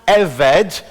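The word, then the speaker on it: עֶבֶד: that big word in the middle and it's pronounced eved uh and and it can be written now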